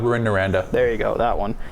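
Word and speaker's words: Rouyn-Noranda: and I'm not even going to try to pronounce that one. Royan Noradon. Ruin Noranda.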